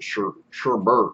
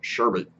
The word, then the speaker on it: sherbet: raspberry green apple sherbet everybody pronounce that sherbert but it's actually spelled sherbet with a menthol kick